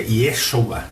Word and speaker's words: Yeshua: Hoje em dia já não se fala mais a forma como se falava antigamente, é Yeshua, né? Não se fala Jesus.